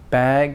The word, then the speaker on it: bag: vowel out a little bit more like bag instead of back like my back tote bag instead of tote back tote bag a little clue that we do to make because it's hard to pronounce in here voice sounds at the very end of a word like bag so we make the vowel a tiny bit longer than usual as a kind of